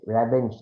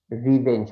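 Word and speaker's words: revenge: র্যাভেঞ্জ না, রিভেঞ্জ হবে। আপনি ব্রিটিশ বলেন, আমেরিকান বলেন, দুটোতেই রিভেঞ্জ, র্যাভেঞ্জ বলে কিছু নেই।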